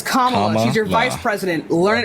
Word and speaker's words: Kamala: That's not how you fucking pronounce her Kamala. name. Okay, then pronounce it. It's Kamala.